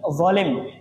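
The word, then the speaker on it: ظالم: dengarin orang ngucapin zalim tapi kebanyakan kalau teman-teman Indonesia ngnya eh jangan zalim kamu zalim bukan Do tapi jadi zo zo ini enggak ada ya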